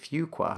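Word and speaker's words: Fuqua: terms of like um I think people routinely mispronounce it and so they they often tell us you know make sure you say fugqua.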